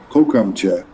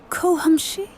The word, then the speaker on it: kocham cię: Kocham cię. It means I love you. Kocham się? Did I get that even remotely right? You're so close. It's pronounced kocham cię.